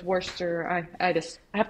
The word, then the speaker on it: Worcester: this recipe so and i have a tendency to pronounce it the way i'm typing it so i don't misspell it when i'm typing it so it's worcester but i know it's worcester i i just i